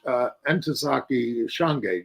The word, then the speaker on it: Ntozake Shange: He also published Ntozake Shange.